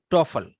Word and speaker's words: TOEFL: People pronounce it TOEFL.